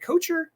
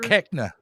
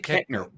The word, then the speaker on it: Koechner: I can laugh at the fact that there are gingerbread men fighting David is it Kocher? David Kocher? Koechner. Dave Koechner. Wow. Okay, I mispronounced that bad.